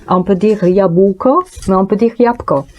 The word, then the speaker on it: jabłko: Il y a beaucoup de consonnes, et parfois, quand on prononce, on les serre.